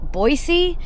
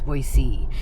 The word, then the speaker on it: Boise: I don't think I've ever heard the city of Boy Boisey. Someone in the comments said that they live in Boise and it's not Boise, it's Boisey.